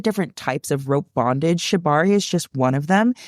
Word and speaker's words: Shibari: I think it's called Shibari. I don't know how to pronounce it. Is that right? So Yeah, for that's those who correct. don't, Yeah, it's a Japanese word.